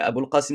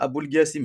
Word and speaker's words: Aboul Qasim: Mais Aboul Qasim aussi le qaf, est-ce qu'il le prononce bien? Donc on va lui dire Aboul Gassim.